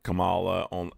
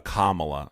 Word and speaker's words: Kamala: So, I don't think that they will entirely discount Camala. A Kamla, sorry, let's pronounce Kamala's name correctly.